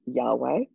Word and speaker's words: Yahweh: As we Christians spell and pronounce it, the word is Yahweh.